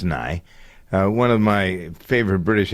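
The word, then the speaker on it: Nighy: I guess that's but no, it's pronounced Nye.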